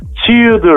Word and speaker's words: Tudor: Ay bir kere Igor yazılır aygır okunur. Tudor yazılır tor okunur.